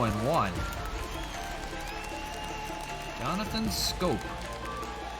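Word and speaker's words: Schoop: o and one Jonathan scope looks like sh but it's pronounced scope and grows it in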